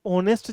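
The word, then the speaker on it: honest: अब बचना यहाँ ये है मेरे दोस्त, कि हमें समझना पड़ेगा ऑनेस्ट जो वर्ड है, हालांकि शुरू एच से होता है, लेकिन ववल की प्रोनाउंसिएशन देता है ए ई आई ओ और यू, इनकी प्रोनाउंसिएशन दे रहा है।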